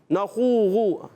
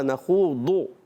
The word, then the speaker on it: نخوض: بعض بچے غین کے تلفظ پر بھی پڑھتے ہیں. نخوغو نخوغو. بھائی کیا پڑھ رہے ہو نخوغو؟ یہ نہیں ہوتا. نخوضو ضاد ضاد.